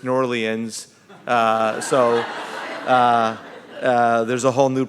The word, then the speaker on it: New Orleans: New Orleans but now I learned from the mayor that it's nor Lien's so there's a whole